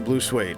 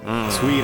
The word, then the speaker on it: Blue Swede: So no points for Blue Suede. Swede, actually. I'm sorry. It's actually Blue Swede. Swede. I'm pronouncing it wrong.